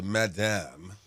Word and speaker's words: Madam: Ladies and gentlemen, in the building, we have not only the Madame. Am I saying it right? Madame? It depends on what country you're in. I hear it everywhere. Madame. Madame. But it's Madam.